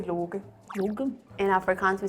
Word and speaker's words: Loki: How do you say it again? Can you? Low key. Low key. Low key. So it turns into a G.